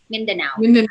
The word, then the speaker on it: Mindanao: pronounce the word right is it minday now Mindanao Yes actually it's one of